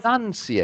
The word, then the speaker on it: pronunciation: You see, but in pronunciation you only have the u between the first two ends and no o.